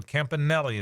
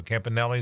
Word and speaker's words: Campanile: aome um so so Campanelli is I'm glad you said that so Campanelli is how you say it so that is the